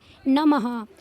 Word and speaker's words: नमः: अगर बच्चों यह दो बिंदियां यहां आगे नहीं होंगी तो इसको कैसे पढ़ेंगे? इतना तो आपको पढ़ना आता होगा कि नम। अगर ये दो बिंदी आगे नहीं होंगी तो कैसे पढ़ेंगे इसको हम? नमः। और दो बिंदी लगते ही इनका जादुई चक्कर चल गया। और इन्होंने नम को नमः कर दिया।